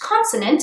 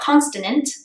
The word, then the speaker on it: consonant: This sucks, it's too Englishy, it's pronounced consonant, not consonant, and learn IPA.